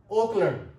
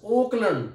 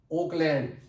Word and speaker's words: Auckland: This is Auckland, not Oakland. This is Auckland.